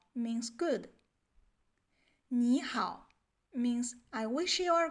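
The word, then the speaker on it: 你好: If you meet some Chinese people, you might find out they don't pronounce the word 你好 like 你好.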